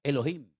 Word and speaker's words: Elohim: desde el principio, es un nombre que se pronuncia Elohim.